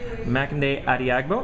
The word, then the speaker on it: Makinde Adeagbo: I have Tom Occhino with me, and I have Makinde Adeagbo.